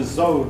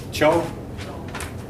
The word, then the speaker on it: Zhou: Cho? Okay. Okay. J, like. Joe. Okay, thank you. J, okay. Zhou dynasty.